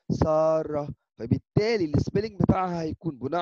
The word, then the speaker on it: سارة: النطق الصحيح اللغة في اللغة العربية لهذا الاسم هو سارة. هذا النطق صحيح نفس السبيلينج باللغه العربيه سين الف راء تاء مربوطه ولكن النطق الناس بتختلف فيه هذا هو النطق صحيح ساره فبالتالي السبيلينج بتاعها هيكون